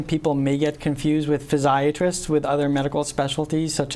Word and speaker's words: physiatrist: Very often people may get confused with physiatrists with other medical specialties such as podiatrist or psychiatrist. Right. In some parts of the country, people actually pronounce physiatrist as physiatrist.